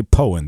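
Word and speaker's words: Poyen: so I would assume that growing up in poen Arkansas and I say poen that's the correct pronunciation you got it man nobody else gets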